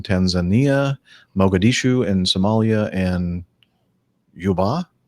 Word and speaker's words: Juba: Mogadishu and Somalia and Juba is the way you pronounce that Jub a Juba yep to say so okay